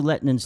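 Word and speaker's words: Lehtinen: How do you pronounce his name? Lettinen, yeah.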